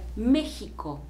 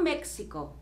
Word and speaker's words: México: Se escribe México, pero en español se debe leer México, como si fuese con J, no México. México no es la forma correcta de pronunciar en español, en inglés probablemente, pero no en español, ¿ok?